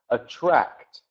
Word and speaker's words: attract: The word attract. So the CT at the end of that word is important. Attract. T is very important when pronounce that. Against the word attack. TK sound is different.